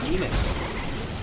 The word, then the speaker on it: daemon: I thought it was pronounced demon. Like, even when you spell it like D-A-E-M-O-N, I'm pretty sure it's supposed to be pronounced demon.